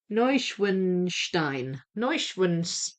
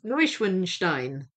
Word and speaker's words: Neuschwanstein: Neu Neuschwanstein. I'll say it. Neuschwanstein.